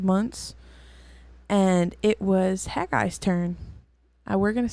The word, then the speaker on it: Haggai: past 4 or 5 months, and it was Haggai's turn. We're going to say that Haggai because I have no other pronunciation for it.